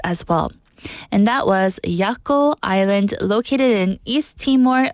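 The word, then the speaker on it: Jaco: yako Island yako Island it's spelled with a J but it's pronounced yako j a c o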